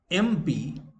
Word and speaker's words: MP: Therefore, in spite of MP, M and P consonant, that will be an. Because when you pronounce the word MP, M, this E, A sound occurs.